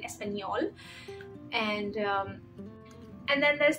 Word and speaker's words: español: removed from other letters it's only on n to pronounce n a like in Espanol and um and then